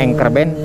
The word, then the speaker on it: anchor band: dengan Eeng korban engker ya dibacanya Angker Band tulisannya anchor anchor band itu di frekuensi 1803dhi